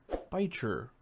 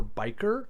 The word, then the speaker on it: bichir: got yourself a dinosaur biter or biker or Basher it's pronounced all those way also known as a